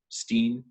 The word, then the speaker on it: Steen: There are very few wines still in South Africa that are called Steen or have Steen on the label. Steen, or how we pronounce it, Steen, essentially means a stone.